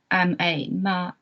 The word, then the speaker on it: mā: For example, for the syllable ma, there could be 5 different tones. The first tone, the horizontal one, this one, ma, it's a high level one. The meaning is mother.